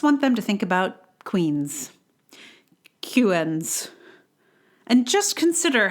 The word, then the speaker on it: Queens: Around here, we call the Brooklyn Queens Expressway the BQE. When this voice told us to take the Brooklyn QN's Expressway, it took me a solid minute to work out what it was talking about.